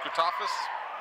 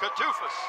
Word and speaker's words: Kutafis: And the last starter for Denbigh will be Alonzo Randall, and they are coached by Dennis Kutafis. Did I pronounce that right? Kutufis.